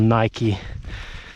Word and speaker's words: Nike: for snow probably, not like me with my Nike trainers or Nik-ee as some of you may pronounce it my worst fear right now is